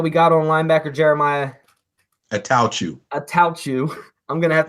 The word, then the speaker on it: Attaochu: It's Attaochu, like someone sneezing.